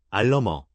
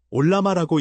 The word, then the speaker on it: Ollama: 알러머 올라마라고 읽습니다.